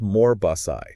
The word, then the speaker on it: Morbos: It's pronounced Morbosai, just so we're clear.